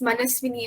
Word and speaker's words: Manaswini: Ma'am, my name is not Shalini, ma'am. It's Manaswini. I've been hearing many people say it wrong.